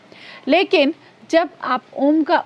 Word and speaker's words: ओम: तो इस तरीके से अ उ और म को मिलाकर हम ओम का उच्चारण करते हैं ओम का उच्चारण हमारे